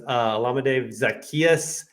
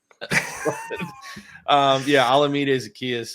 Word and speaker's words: Olamide Zaccheaus: Olamide Zaccheaus, I believe, is how you say it.